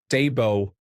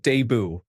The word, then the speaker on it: debut: Debut pronounced correctly as Debo not deu.